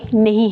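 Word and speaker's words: know: O double U यानी के नो के लिखने में है लेकिन पढ़ने में नहीं है सो इसको हम पढ़ेंगे नो अब नीचे जाए तो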